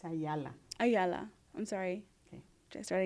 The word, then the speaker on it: Ayala: So I'm interviewing Rachel Ayala for the Voces Oral History Project in Brownsville, Texas. Okay, it's Ayala.